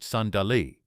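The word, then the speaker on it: صندلی: In medieval Afghanistan, people used a heated table called a sandali, pronounced sandali.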